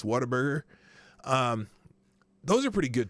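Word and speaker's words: Whataburger: Texas that's big waterburger everyone pronounces it waterburger but it's waterburger um those are pretty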